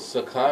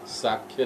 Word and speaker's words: सख्य: है सकता है इसलिए जब भी हम इस शब्द का उच्चारण करते हैं तो हमको सही रूप से करना होगा अ मैं सत्य कह ना साक्ष्य नहीं है है बल्कि सख्यभाव सख्या रस सच्चे व्यक्ति इस प्रकार